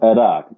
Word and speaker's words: Iraq: Well, I was saying Iraq. That is the Arabian pronunciation, and because Arabic is my first language, I'm so used to saying things the Arabic way.